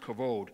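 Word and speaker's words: כבוד: word for glory is kavod it's spelled k-a-b-o-d it's pronounced kavod it means glory splendor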